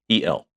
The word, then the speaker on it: el: It's L E L L. Okay. Oh, yeah. El L El Matador. Correct. El luchador, right?